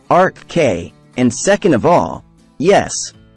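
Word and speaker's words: Arkhé: lovers number one RK first of all it's pronounced Arc K and second of all yes you need to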